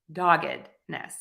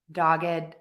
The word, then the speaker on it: doggedness: pronounce this word doggedness dog ID Ness doggedness doggedness doggedness all right and